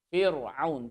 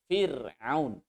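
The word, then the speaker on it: فرعون: tipis bunyinya di bernaung jangan baca view Firaun tapi Firaun Firaun Firaun ini akan kemudian masih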